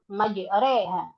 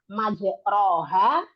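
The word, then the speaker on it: مجريها: jadi tidak dibaca majroha, tidak pula dibaca majriha. Dibacanya adalah majreha. Jadi tidak fathah, tidak kasrah. Yang betul adalah memiringkan bunyi fathah pada kasrah. Gitu, ya. Nah, sehingga bunyinya adalah majreha.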